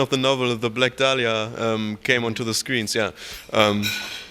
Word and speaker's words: Dahlia: Oh yeah, people say Dahlia, Delilah, who knows, man, all kinds of shit. But it is Dahlia, isn't it? Yeah, it's Dahlia, but yeah, so that it helped, I think,